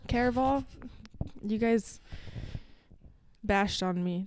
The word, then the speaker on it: Caraval: Because I did it for Carval. Mm-hmm. Did I say that right? Caraval.